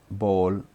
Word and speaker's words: bowl: कहते हैं, BOWL, बॉल, ये बाउल नहीं पढ़ा जाता है, बॉल पढ़ा जाता है, BOWL यानी कटोरी, बॉल, BOWL, बॉल, BOWL, बॉल, BOWL, बॉल, बॉल, बॉल, बॉल, कटोरी, बॉल, लेकिन हम लोग क्या ज़्यादातर बाउल पढ़ते हैं, लेकिन ये एग्जैक्ट वर्ड जो है बॉल है, BOWL, बॉल, बॉल, बॉल,